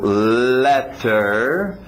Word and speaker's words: letter: Estava vendo uma lição onde a pessoa estava confundindo letter, som de E, com later, de see you later, vejo você mais tarde, o som de lay, le.